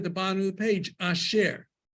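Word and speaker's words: אשר: So like the word at the bottom of the page, asher. You pronounce it just like it's as if those two dots weren't there.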